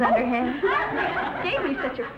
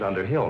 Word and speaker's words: Underhill: men thank you mrs underhand mrs underhill not mrs underhand elizabeth you mispronounce it